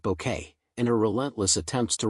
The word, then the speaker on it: Bucket: With its delicious satire of class anxiety and social aspiration, the series centers on the unforgettable hyestin bucket who insists her surname is pronounced bouquet and her relentless attempts to rise above her humble beginnings.